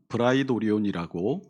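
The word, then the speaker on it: πραιτώριον: 말이 폭넓게 사용이 됐어요이 프라이토리움이 헬라어로 음하 브라이도리온이라고 어 발음이 됩니다이 을이 한자로 풀어보면 관청의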